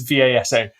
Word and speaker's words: Vasa: I've said it wrong. It is V-A-S-A, Vasa.